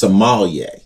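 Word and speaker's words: sommelier: He said it's a Somalier. Like Somalia. Somalier. A Somalier.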